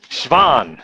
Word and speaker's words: Schwann: Okay, Schwann, that's how you pronounce it in Swedish.